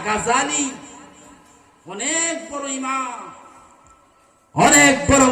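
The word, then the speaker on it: غزالي: এই উচ্চারণটা ভুল, এটা গাজ্জালি না, গাজালি।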